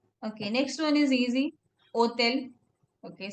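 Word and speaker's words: hôtel: Hotel. Okay. Hotel. Somewhat like hostel, hotel. They eliminate the s.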